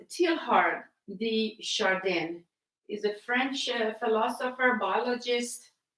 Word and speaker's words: Teilhard de Chardin: This is by, I think it's pronounced Teilhard de Chardin.